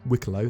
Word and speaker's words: Wicklow: So we've got the first Banu in-game, Wicklow, which has been confirmed that is Wicklow, that's how you pronounce it, at least according to CIG.